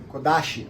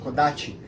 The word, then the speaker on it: kodachi: Então, muda, kodashi, kodachi. Então tem essas diferenças em pronúncia, então eu já peço